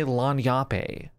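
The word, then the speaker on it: lagniappe: In the interim, I pronounce it lanyape because I was just guessing, and I was told resoundingly that it's pronounced lanyap.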